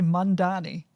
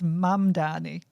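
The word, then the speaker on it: Mamdani: You always say Mandani. It's Mannani.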